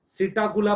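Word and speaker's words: Psittacula: अच्छा, P silent है, सिटाकुला पढ़ेंगे।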